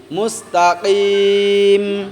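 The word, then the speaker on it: مستقيم: মুস্তাকিম ইহদিনাস সিরাতাল মুস্তাকিম মুস্তাকিম মুস্তাকিম কাফ উচ্চারণ করবে মুস্তাকিম মুস্তাকিম ইহদিনাস ইহদিনাস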